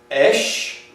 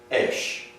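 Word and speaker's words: אִישׁ: This is pronounced esh. This is pronounced esh.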